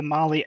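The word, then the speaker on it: Mahle: for the podcast listeners Molly is spelled m ahle e yes yeah just as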